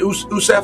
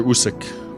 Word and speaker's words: Usyk: So, I spoke to Rico, the kickboxing champion, getting ready to take on, how do you say, is it Usysef? Alexander Usyk.